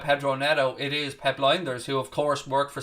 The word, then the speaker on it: Lijnders: I mean, when we did our research on Diogo Jota, it was Lijnders who I have to say Lijnders now because that's the correct pronunciation apparently, who had the contacts